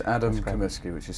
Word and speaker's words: Comiskey: Let's start with the first one, which is your name and if you can spell it in the title. So, we get it for the subscription. Yeah, it's Adam Kamiski, which is C O M I S K Y.